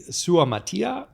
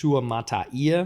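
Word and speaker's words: Suamataia: over that uh Kingsley sua Matia uh that's UA Mata there we go there we go missed a syllable there offensive tackle out of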